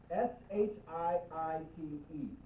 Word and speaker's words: Shiite: S-H-I-I-T-E. Sometimes I see a dash or a space between the 2 I's. Just so that you know, it's 2 syllable.